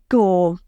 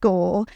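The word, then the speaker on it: Győr: It was a place called, I hope I'm pronouncing this right, Gore, in Hungary. Gyor it's spelled, the city.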